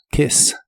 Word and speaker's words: kiss: de inglés es kes la i de este verbo es corta kes kes en el presente lo